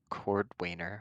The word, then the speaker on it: Cordwainer: Rhubarb first would be making a beeline for the Cordwainer, I believe is that how you say it? I believe that is Cordwinner. Let me double check on my notes. Yeah, I believe it's Cordwinner.